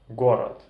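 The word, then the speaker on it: город: sounds that are different the sound who in burleson and gu in russian for example horrid gorod Halawa galava hiroi hiroi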